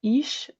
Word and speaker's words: Ix: for the project there is pronounced Ish, and it's the Mayan symbol for jaguar from the ancient Maya civilization.